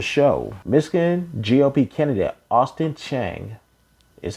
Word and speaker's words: Chenge: get into the show michigan gop kennedy austin chang is how you pronounce the last name chang he posted this on twitter because oh actually